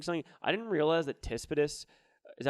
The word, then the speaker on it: Tsitsipas: I didn't realize that Tispidis, is that how you say it? Stefanos Tsitsipas.